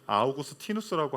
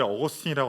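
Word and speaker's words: Augustinus: 그 영어식 표현을 어거스틴이라고 하기도 하고 라틴어 표현들은 아우구스티누스라고 하기도 합니다.이 전공자들은요 절대 어거스틴이라고 안 해요. 아어고스티누스라고 합니다.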